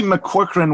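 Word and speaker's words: McCaughrean: Geraldine McCorcoran.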